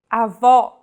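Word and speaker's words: avó: with the acute accent vowels with the acute accent will be stressed and pronounced with open Pronunciation Avo this word means grandmother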